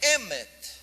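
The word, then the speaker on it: אמת: A palavra verdade em língua hebraica é emet. Emet. Emet são 3 palavras. Emet se escreve com Aleph, Men e Tav.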